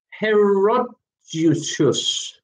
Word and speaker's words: Herodotus: Pronunciation again. Herodotus.